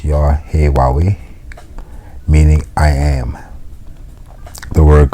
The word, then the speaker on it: Yahweh: The word Lord is Yahweh, pronounced Yahweh, meaning I am.